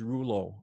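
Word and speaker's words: Rouleau: that could be interesting my last name is rulo it's a bit hard to pronounce for english people so i put a phonetic way of pronouncing it r-u-l-o as opposed to r-o-u-l-e-a-u so it if you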